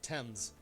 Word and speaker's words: Thames: overlooking the Thames River I may have mispronounced the Thames that's that's the better way to say it Thames uh I think the